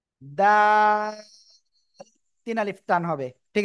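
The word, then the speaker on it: دال: জিহ্বার আগায় দুই দাঁতের গোড়ায় লাগান লাগিয়ে এখন উচ্চারণ করতে হবে দাল দাল তিন আলিফ টান হবে ঠিক আছে সবাই জোরে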